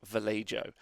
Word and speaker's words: Vallejo: or commenters or other people number one it's pronounced vallejo number two importantly yeah i understand we've did